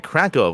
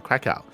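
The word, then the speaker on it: Kraków: Uh that is an event, an offline event that is going to be happening in Krakov or in Krakow uh depending on how you want to pronounce it.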